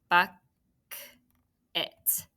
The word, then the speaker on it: bucket: that it's still closed how about bucket to finish us up buck it we have a short vowel that's a closed syllable and we have right or schwa it sounds like it should be i t but it isn't unexpected schwa very good all right